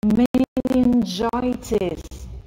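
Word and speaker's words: meningitis: Менингитис. Почему менингитис? Да потому что G встретилась с буквой I. Когда G встречается с E, I, Y, она читается G.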